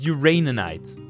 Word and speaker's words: uraninite: And I'm saying it right, it is uraninite. Uraninite. Yeah, it is.